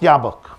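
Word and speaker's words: Jobbik: it's pronounced ja it's it's written jauk it's pronounced yabok and the leader of that party is a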